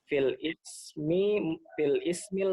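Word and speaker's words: في الاسم: Fil ismil mufradi wa jam'at taksir. Bacanya filismi. Filismi. Karena hamzahnya wasal ya.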